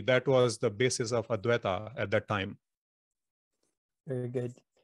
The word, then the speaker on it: Advaita: you tell us about, I believe I am pronouncing this correctly, Advaita? Advaita, yes.